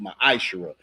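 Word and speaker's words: מעשר: numbers 18:21 Malachi 38-10 it means 10th in Hebrew and it's pronounced maish that's Hebrew we have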